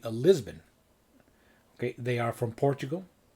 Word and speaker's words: Lisbon: Here I have this a box set called Lisboa Under the Spell, which means, of course, Lisboa is how you say Lisbon.